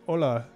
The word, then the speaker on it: hola: um greetings from so you just say hola is how you say okay so it's very similar just um drop the h there that's cool okay all